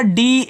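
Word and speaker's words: day: ए वाई को ऐसे ए के रूप में उच्चारण करोगे ये आपका डी ए वाई हो जाएगा डे।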